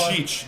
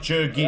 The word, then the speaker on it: Djurdjic: Djurdjic, not Djurgic. Our It's apologies, Djurdjic.